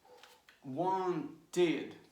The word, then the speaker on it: wanted: But the pronunciation is wanted, wanted, yes? And this is like a long sound, okay? Knee, right? Needed, needed. So, look, want, one syllable. Wanted, two syllables.